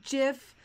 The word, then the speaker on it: GIF: there's a button and I'm pronouncing this jiff intentionally deal with it there's a jiff